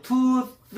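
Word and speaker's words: tooth: 뜨 발음 잘하세요.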